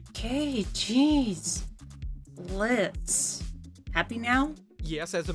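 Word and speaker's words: Blitzø: It's Blitz. The O is silent. Okay. Jeez. Blitz.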